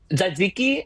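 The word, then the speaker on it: tzatziki: Zadziki.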